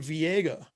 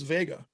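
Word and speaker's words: Veiga: But I found out recently it is Vega, so it's pronounced exact.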